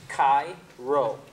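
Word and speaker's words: Chi-Rho: These two Greek letters look like the English capital letters X and P, and are pronounced Chi-Ro.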